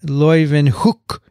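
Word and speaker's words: Leeuwenhoek: did a tweevo with she said yeah hookstra is the way you pronounce her name and leuven hook would be the way you say his name so that's what he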